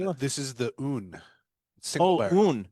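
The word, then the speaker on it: Aon: This is the Oon single barrel. Oon. This is the Oon single barrel. Yep. It's a single barrel. A O N. It's exactly. Yeah, it's pronounced un and it's finished in an Amaron cask.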